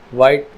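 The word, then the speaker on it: white: आए जैसे यहां पर एच से पहले सी आया तब भी एच की साउंड साइलेंट होंगी जैसे केमिकल केमिस्ट्री टेक्नोलॉजी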